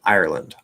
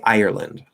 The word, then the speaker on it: Ireland: and going like r r r so like ireland ireland or i could say ireland ireland ireland ireland okay so there's two ways